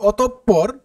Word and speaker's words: অতঃপর: বর্ণটি দৃত্ত উচ্চারিত হয় যেমন অতঃপর যেমন দেখো এই যে বিসর্গের পরে কিন্তু যে পে যে বর্ণটি আছে এটা কিন্তু দৃত্ত উচ্চারিত হবে তার মানে যে বর্ণের আগে বিসর্গ থাকবে সে বর্ণটির উচ্চারণ কি হবে দৃত্তমা দুইবার উচ্চারিত হবে দেখো এখানে প কিন্তু দুইবার উচ্চারিত হয়েছে একইভাবে আমরা বলতে পারি